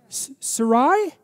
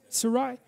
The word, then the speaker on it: Sarai: how to say that Sarai Sarai it's SAR to begin with yes is that right Sarai